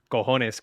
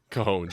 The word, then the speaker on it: cojones: I'm really happy that Matt pronounced cojones correctly after Dave. You dropped a cojones. Cojones, yeah, that's Come on, man.